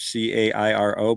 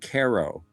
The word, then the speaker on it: Cairo: C A I R O. But they pronounce it KO.